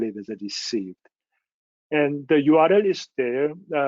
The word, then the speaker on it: RSCBD: up this name, but we pronounce it as a received. Once we started it, and somebody found RSCBD could be read as a received, and received is the final goal of resource sharing.